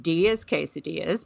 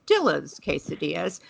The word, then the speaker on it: Dillas Quesadillas: today's feature chain it may look like it's pronounced D's casadas but it is actually said Dill's casadas for everybody who doesn't want to uh appear